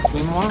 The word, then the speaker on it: quinoa: Quinoa?